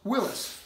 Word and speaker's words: Willys: WI ll why s is pronounced Willis as in Willis Overland Willis Jeep so these guys who